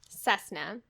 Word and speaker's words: Cessna: Cessna spelled with a C sounds like an S, right?